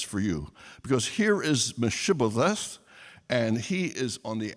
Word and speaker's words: Mephibosheth: He finds a man's name called Mephibosheth, which is pretty much what we had before. I may have missed a syllable or two there. Mephibosheth.